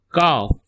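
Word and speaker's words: ق: Move to next is cough. Cough. Repeat after me. Cough. It's a deep Q sound.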